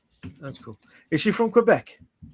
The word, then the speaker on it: Quebec: They pronounce it like it's a K. I I just find that amusing, so I do it. It's hilarious. Yeah. Cubec. Quebec. Quebec as they say.